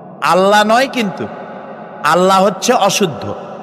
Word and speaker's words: আল্লাহ: বলেন তো আল্লাহ নয়।